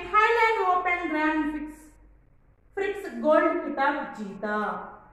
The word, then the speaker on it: खिताब: खिताब तो यहाँ पर हम प्रोनाउंस करते समय अच्छा गौर से कॉन्सेंट्रेट कीजिए कि मैं किताब कह रही हूँ या खिताब। सो यह किताब और खिताब यहाँ पर डिफरेंस देखिए प्रोनाउंस करने में, लिखने में भी अलग है और उसे प्रोनाउंस करने में भी डिफरेंट साउंड आता है।